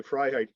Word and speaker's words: Freiheit: Freiheit. Phonetically, it's Freiheit, and it's verbatim freedom in German. Right. Okay, Freiheit.